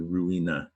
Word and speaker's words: ruin: So that's what the Latin word ruina. Now, we drop that A, we have the English word ruin. Ruin. Ru-in. It's two syllables. All right? That explains the confusion with run.